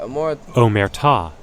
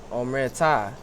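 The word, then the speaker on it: omertà: Omerta. Oh, that's how they say it. Omerta.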